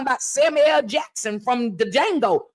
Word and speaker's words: Django: Samuel Jackson from the Django the D is silent so it's just D